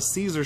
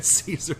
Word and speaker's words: Caesar: Is that like a Caesar salad? I believe it's pronounced Kaiser.